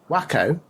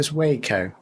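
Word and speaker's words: Waco: a couple of things wacko pronounced wo in Texas was the location of a massively bad shootout between police and a cult not sure if you need to mention it but not sure pronouncing it wacko was ideal sorry listeners everyday's school day oh yes say wakeo apologies to those living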